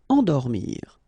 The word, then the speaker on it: endormir: Nasal here, en, and then dormir. Endormir.